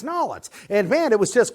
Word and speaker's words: New Orleans: used to meet together New Orleans and all its BAM I I never had a crawfish before you know I used to pronounce it New Orleans but then I learned it's knowlet's and man it was